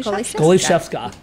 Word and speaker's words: Goliszewska: your last name it's you have to break it up in three parts goalie goalie chef chef sca sca goie goalie Chef SCA he got it so